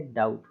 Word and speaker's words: doubt: से वही चीज़ है, टी के पहले क्या आ रहा है, बी आ रहा है, तो क्या हो जाएगा इसमें, बी साइलेंट हो जाएगा, केवल पढ़ेंगे डाउट, डाउट, इस तरीके से नहीं